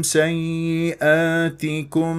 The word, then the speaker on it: سيئاتكم: الطريقه بارك الله فيكم النون مع الكاف اخفاء نذهب الى مخرج الكاف سيئاتكم الياء هنا فيها نابور واسمع اليائين ما اقول سك ياتكم اختفى عندي صوت الياء الاولى او سيئاتكم اضغط على